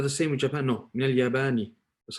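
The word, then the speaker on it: من الياباني: Min al-Yabani. That's how you say it. Min al-Yabani.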